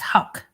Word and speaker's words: Houck: i say the last name marty it's brooks hawk huck it's pronounced huck that's hard for me to say i know